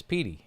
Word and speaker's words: Petey: It's Pey." And so the first thing she said was just like Pey.